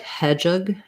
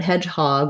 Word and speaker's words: hedgehog: red tent vowel hedgehog hedgehog is a compound down so primary stress on the first syllable but also a little bit of stress on the hog so you don't want if it were unstressed it would be like hedgehog or hedgehog hedgehog but hedgehog we have a clear vowel so um we in